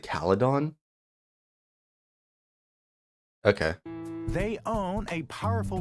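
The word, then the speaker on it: Calydon: AR wait they they they pronounce it cadon okay they own a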